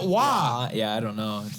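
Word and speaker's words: Roy: That and being a hockey guy, I can't stand Patrick Waugh. His last name is spelled R-O-Y. Why is it Waugh?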